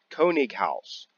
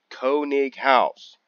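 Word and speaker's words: Koenighaus: H a US House German pronunciation for house is H a US House Co house Konig house Konig house not contagious hola what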